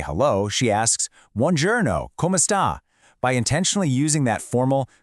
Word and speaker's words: come sta: But, if you want to be respectful with the stranger or maybe an elder, you drop that I entirely and use a shorter, clipped a sound.